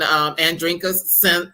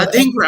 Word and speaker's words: Adinkra: starts off with a an African Andrinka symbol. It's a Adinkra symbol. Adinkra, I'm sorry, I wrote it down wrong.